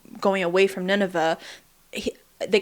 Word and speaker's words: Nineveh: Nineveh. Nineveh. I think Nineveh is how they pronounce it.